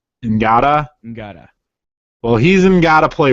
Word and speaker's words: Ngata: I don't know how to pronounce names that start with an N, but it's like you only barely pronounce the N. Ngata.